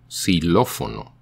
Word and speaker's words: xilófono: At the beginning of a word, the X sounds like an S. For example, xilófono, xylophone, sounds like S-I-L-O-F-O-N-O, xilófono.